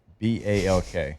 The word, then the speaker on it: balk: B A L K Yeah. B A L K It's a balk. It's like chalk with a B.